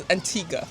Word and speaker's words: Antigua: No, the U is not pronounced. It's Antigga.